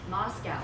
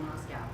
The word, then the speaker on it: Moscow: By the way, Moscow, there's no cow in Moscow, and I pronounced it wrong.